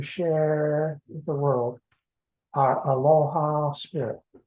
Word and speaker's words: aloha: with the world our aloha spirit. Aloha is 2 syllables. Alo means to gather, or just 2 people meeting, to gather in an assembly, to share the ha, the second syllable.